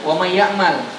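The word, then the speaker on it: وَمَن يَعْمَلْ: Idgham bi gunnah artinya idgham beserta gunnah. Artinya ada peran gunnah di dalamnya, ada hidung perannya. Makanya bacanya adalah wa may, enggak wa may, tapi di sini ada peran hidung. Enggak sekedar wa may ya'mal, enggak. Tapi harus ada gunnah.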